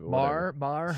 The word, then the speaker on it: Maher: I didn't know that that's how you pronounced it. Mar. Sure, Mar. Sure.